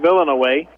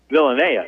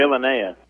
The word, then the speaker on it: Villanea: I think that they say his name Villanaway. Villanea, isn't it? Villanea, sure. Sean Villanea got the rebound, fell down, turned the ball over.